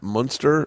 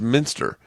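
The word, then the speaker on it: Muenster: right yeah um I I've been saying Matt mster who on DIY networks and it's Minster this whole time I've been calling him Matt mster like the cheese and he's and someone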